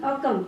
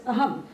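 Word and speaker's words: அகம்: You can see it is written Akam. This is, but it is pronounced as Aham. You will find somewhere it is written AHAM or it is written AKAM. This is because of the Tamil language.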